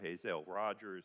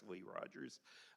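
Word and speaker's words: Hazelle Rogers: I know Commissioner McKenzie, Commissioner Hazel Rogers or Hley Rogers, everybody's been mispronouncing her name for decades. It's actually Hley Rogers.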